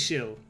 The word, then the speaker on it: Ixil: including Quiche, Kakshikel, and Ixil. Or Ihil. Again, I don't know about X Mayan is pronounced X's. like ish at the beginning of a word and sh anywhere else.